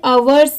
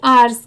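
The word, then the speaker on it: hours: यहां पर इसे आवर्स नहीं पढ़ेंगे। यहां पर इसकी साउंड क्या आएगी? आर्स की। यहां पर एच लेटर साइलेंट है।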